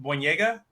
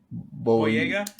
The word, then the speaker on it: Boyega: Jonathan, I think it's pronounced Boyega. Is that how you pronounce his name? Boyega?